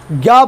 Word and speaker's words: ज्ञ: ज्ञ बोलते समय ग और य आता है। लेकिन अभी बोलूंगा कि इसका उच्चारण ग प्लस य की तरह होता है।